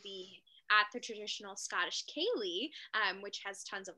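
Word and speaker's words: ceilidh: yes marissa akeley is pronounced kaylee as k-a-y-l-e-e is a gaelic word of the scottish garlic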